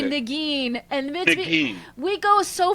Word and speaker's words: Negin: And he goes for the French pronunciation of my name, Negin, but it's actually Negin.